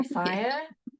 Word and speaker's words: Sia: She's just like I always think of that song Unstoppable by Sia, right?